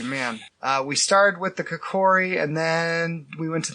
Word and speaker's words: Kikori: I think it's Kikori. Kikori.